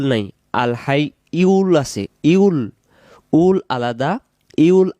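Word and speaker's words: ٱلْحَيُّ: আমরা যদি বলি আল হাই ইউল, তখন ইয়া উচ্চারণ হবে, ইয়া পেশ ইউ। আর যদি বলে আল হাই উল, তখন হামজা পেশ উ হবে।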